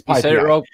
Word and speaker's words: PyPI: Ooh, and I said it wrong. It's PyPI.